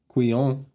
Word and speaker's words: quillon: The only difference is that on Narsil, the Quillon has this motif repeated on the end of the crossguard instead of balls.